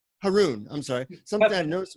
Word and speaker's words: Harun: Harun, I'm sorry.